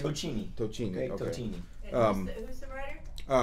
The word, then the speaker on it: Tocchini: Tocchini.